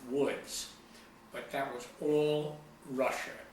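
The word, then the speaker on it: Łódź: largest city in Poland spelled lodz pronounced woods but that was all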